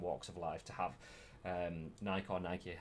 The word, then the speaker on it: Nike: of life, to have Nike, however you want to pronounce it. I know it's Nike, but Nike to me.